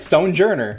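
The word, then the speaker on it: Stonjourner: say this guy's name soldier you got it stone journey is that it yes that's literally it looks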